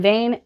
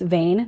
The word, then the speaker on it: van Veen: And then I read Blood on Her Tongue by Johanna van Veen, and I loved this. I loved this. I did learn that it's Vane, not Veen.